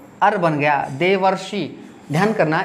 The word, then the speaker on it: देवर्षि: ने तो अर्बन गया देवर्षि ध्यान करना इसमें बहुत सारे बच्चे गलती इसका उच्चारण करते हैं देव ऋषि बोलते हैं ऐसा नहीं अपने को बोलना है यह देवर्षि होता है महज हमारी यहां आ